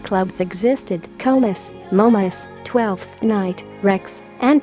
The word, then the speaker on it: Krewes: The Krewes, pronounced Krewes, are organizations that fund and host parades or balls during Mardi Gras.